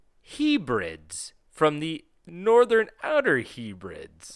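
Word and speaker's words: Hebrides: from the northern outer Hebrids. Are you trying to say hybrids? No, it's H E B R I D S. Hebrids.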